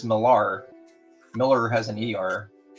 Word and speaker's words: Millar: This is Mark Miller, or Millar, how do you say it? The hell comics, bro. What's up, Alan? Dale Quinones. How do you say Mark Miller's name? Dale Quinones. Mark Millar. You say Millar? All right.